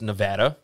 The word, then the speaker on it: Nevada: And some people say that you pronounce this Nevada, but we live in Mississippi, so we're going to say Nevada.